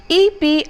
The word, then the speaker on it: epitome: The seventh word is maybe a word that is not used very often but pronounced wrongly by many who use them. EPITOME is an epitome and not an epitome.